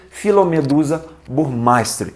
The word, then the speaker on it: Phyllomedusa burmeisteri: eu já vi tô a maioria das pessoas né que pronuncia o nome dessa pererequinha produziu pronunciam phyllomedusa burmeisteri então vai ficar essa frescura